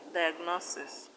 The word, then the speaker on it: diagnosis: Words like diagnosis, osmosis, kurtosis, stress the second syllable from the end. In diagnosis, the stress is on NO.